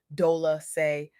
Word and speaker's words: Dolce: I'm your host, Dolci, pronounced dol-a-say, like sweet softness whispered in French, and I am your